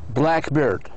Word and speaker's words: blackbird: First rule, for compound nouns, the stress is on the first part. Blackbird, blackberry.